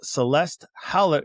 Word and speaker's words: Celeste Hallett: Miss Celeste Hallett is here with us.